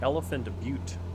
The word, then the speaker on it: Elephant Butte: a little bit north north of uh elophor elephant butte that's how you say it but not but